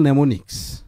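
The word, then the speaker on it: mnemonics: এবং স্যার বলছেন ইট is very useful নেমোনিক্স। এই স্যারের কাছ থেকে আমি ফার্স্ট নেমোনিক্স ওয়ার্ডটা শিখলাম। The first letter M is silent, ঠিক আছে?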